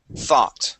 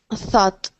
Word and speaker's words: thought: this word is thought thought thought thought the path of think yeah so we want uh yes yes so we want to pronounce a t sound at the very end there thought thought there you go one